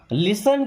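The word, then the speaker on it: listen: मुझे माफ कर दो लिसन केयरफुली यहां पे टी साइलेंट है।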